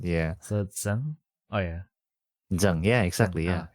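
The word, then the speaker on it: Tsang: um like for example named zang. Mhm. So you know t s a n g. Mhm. They usually pronounce this as s. Mhm. Oh yeah. because they they can't do like the hot t sound right before the s sound.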